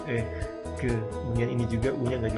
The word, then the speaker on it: que: Nah di sini u-nya malah nggak dibunyikan, jadi langsung ke.